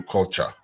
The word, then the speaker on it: Kulcha: on the App Store it's called radio culture culture is spelled Kul l c ha yes if you're listening